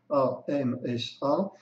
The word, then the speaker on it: Hamsa: Donc ça s'écrit en sanskrit H, enfin ça s'écrit pas ainsi en sanskrit, mais ça se traduit en français Amsa, Hamsa, qui veut dire le signe, l'animal, le signe sur un lac.